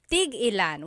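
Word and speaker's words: tig-ilan: Tigilan is a homonym meaning it can have different translations depending on how it's pronounced. So tigilan when there's a hyphen in it you have to have that glottle stop that means how many of each when there's no hyphen it's just one word that means to stop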